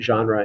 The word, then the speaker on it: genre: term to go over genre it's pronounced that way that's sort of a it comes from french so we pronounce it genre in english which is almost the way the french say it it's related to words